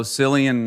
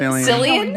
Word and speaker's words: Cillian: Do you remember, I guess maybe 3 of those ago, Cillian Murphy, is that his name? Yeah, From Cillian. Cillian. Cillian? I don't know. Cillian. It's spelled with a C, so it's very confusing.